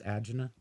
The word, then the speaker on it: angina: Did you realize that angina is not the right way to say that? It's agina.